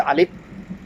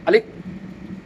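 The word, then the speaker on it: ألف: আলিফ উচ্চারণ হবে আলিফ। আলিফ। আলিফ। আলিফ। এভাবে হবে না। উচ্চারণ আলিফ।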